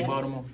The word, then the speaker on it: Baltimore: day how you say Baltimore Baltimore all right don't pronounce the T but no seriously like